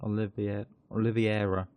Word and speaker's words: Oliveira: Oliveira is probably the correct way to pronounce it.